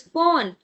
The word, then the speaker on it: von: Remember, this is von because V is F.